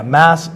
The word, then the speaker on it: mouse: there a reason yeah mass is the Pittsburgh pronunciation pronunciation of a mouse so you're you're from